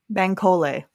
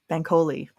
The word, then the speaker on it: Bankole: Pronunciation, that would be more helpful. Bankole. Bankole.